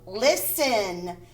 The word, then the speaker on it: listen: Listen. The T is silent.